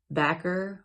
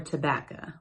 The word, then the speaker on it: tobacco: They would pronounce tobacco backer or tobaca.